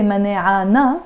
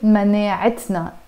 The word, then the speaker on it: مناعتنا: But the moment I attach a pronoun to it, which in this case is the na, of course I don't say مناعنا. No, I have to pronounce the T marbuta. And I say مناعتنا. And the fatha here of مناعة kind of becomes like a kasra.